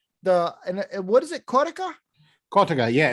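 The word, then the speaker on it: cotica: on sunday and the and what is it cortica yeah it's c-o-t-i-c-a um it's got a couple couple different pronunciations depending where on italy you are but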